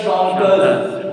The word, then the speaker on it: chanteuse: Actrice, we have actrice, actor, actrice, chanteur, chanteuse, chanteur, chanteuse. Why chanteuse? Because already I told single S between two vowels. Single S will be pronounced Z.